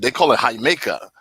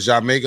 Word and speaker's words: Jamaica: They call it Jamaica, like the original spelling of Jamaica. Yeah, they call it Jamaica. That's how they pronounce it.